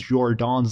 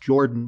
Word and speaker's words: Jordan: complex variables known as jordan's lemma i used to believe that it was pronounced jordan but it's actually a french name so it's pronounced jordan anyway let's start by